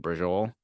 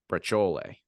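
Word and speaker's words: braciole: It's either I think how it should be pronounced is brachole. Really? Yeah, like that C should not turn into a J. And that E at the end does fucking matter.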